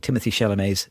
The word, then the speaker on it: Timothée Chalamet: I was told off over dinner for mispronouncing Timothée Chalamet's name.